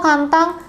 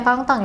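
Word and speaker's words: 簡単: Nomor dua, kantang. Bukan ya Minasang. Ini bukan dibaca kangtang ya.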